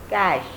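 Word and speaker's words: cache: Next is C-A-C-H-E. Again, don't go by the spelling. The last segment of the letters will be pronounced as sh. Just like in crash, this will be cash.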